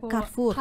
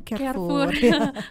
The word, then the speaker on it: Carrefour: Itu dibacanya Carrefour ya. Jangan lagi mengucapkan Carrefour. Carrefour. Ya, Carrefour.